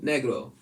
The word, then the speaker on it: negro: is spelled n-e-g-r-o negro negro uh it's a spanish word when translated to english means black and this is how it's said negro negro all right that's all